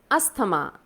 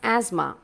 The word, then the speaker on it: asthma: correctly as dengue it's dengue another word is asthama that is really pronounced incorrectly it is not pronounced as asthma students you need to pronounce it as asthma of course there are a lot more words